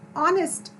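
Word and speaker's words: honest: हम बोल रहे हैं एन ऑनेस्ट, यहाँ पर एच साइलेंट है।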